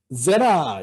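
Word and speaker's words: זרע: 왜 파타흐가 됐느냐 하면은 후음의 영향으로 아인이 아모음을 선호하기 때문에 제레가 아니라 제라 이런 식으로 발음이 되는 겁니다. 액센트는 앞에 있습니다.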